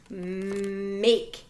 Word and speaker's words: make: Make. M-A-K-E. Make. That silent E helps the vowel say its name.